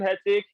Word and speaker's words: Hertic: My name Hertic is just saying you're having a busy day. So like you saying you have a hectic day, I try to spell it the HERTIC as hectic, which is very straight.